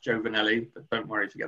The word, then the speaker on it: Giovnilli: name on the screen it's pronounced joe vanelli but don't worry if